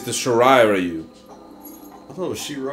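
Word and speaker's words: Shirai Ryu: shiru ninja clans are anent B you better pronounce that right it's the sharai rayu I thought Shir shiru Shir rayu sh Ru yeah that my bad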